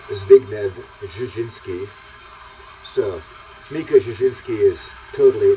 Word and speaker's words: Zbigniew Brzezinski: the Carter administration that everyone reads as Zbigniew Brzezinski, the father of Mika Brzezinski, that's actually pronounced something more like Zbigniew Brzezinski.